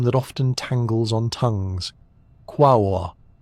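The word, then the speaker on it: Quaoar: Quawa. It looks like it should rhyme with jaguar. And many people pronounce it that way, but the correct way is softer, more musical. Qua o r.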